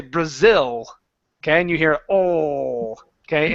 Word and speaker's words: Brazil: In Braasil, okay? You're you're using an sound. Okay? Instead of Brazil, it's like if I were to say it, I would say Brazil.